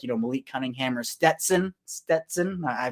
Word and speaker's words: Stetson: like, Malik Cunningham or Stetson. I pronounced it right. I'm going to flex that I can say it right now because I totally forgot his name was Stetson and not Stenson.